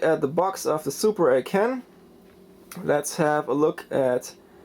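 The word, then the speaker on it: Super A'Can: And by the way, I really asked a guy in a retro video game shop in Taipei in Taiwan how to pronounce the system, and he said it's Super A CAN. Alright, so I go for that too and call it Super A CAN.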